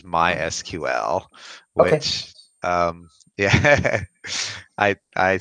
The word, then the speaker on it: MySQL: to point out that it is not pronounced my sequel but it is MySQL wait yeah I I